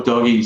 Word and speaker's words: Doge: It's either Doge or Doggy, so DOGE coin.